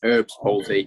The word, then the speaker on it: Erb's palsy: Starting at the very beginning, now, am I saying this right when I'm saying Erb's palsy? Am I pronouncing that the right way? Yes, that's correct. Yes, Erb's palsy, ERBS palsy.